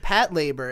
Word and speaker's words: Patlabor: funny because i started i started saying it pat labor and people were like oh are you sure that's the right way to say it and i'm like yes the answer is yes if you watch the